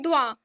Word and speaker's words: doit: Okay, je dois, tu dois, il doit. Let me remind you, the pronunciation is the same. It is not S and T in the end are not making a difference to the pronunciation.